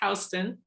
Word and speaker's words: Houston: All but one of her siblings moved away from the rural community, then called Houston, Georgia, which is spelled the same as Houston, but it's Houston, to find a means of income.